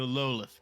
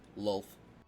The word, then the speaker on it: Lolth: My inquisitors are currently searching for the location of the Lolith cult. I believe we should send Ryochi off. It's one syllable, by the way. Lolth.